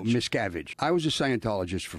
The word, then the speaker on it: Miscavige: What's the correct pronunciation? It's Cavage? Miscavige? No, Miscavige.